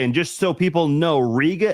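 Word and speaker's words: Riega: just so people know Ria is spelled r i e g a again r i e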